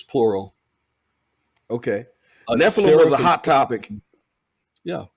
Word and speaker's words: Nephilim: So it's Nephthil if it's singular, and Nephilim if it's plural. Okay. Nephilim was a hot topic.